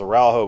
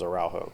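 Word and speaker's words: Araújo: whose last name was araujo and so that's how they spread out that's how they pronounce it in Spanish and so that's how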